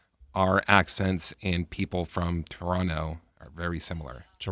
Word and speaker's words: Toronto: I heard that's the correct pron pronunciation. Take out that second T. Toronto.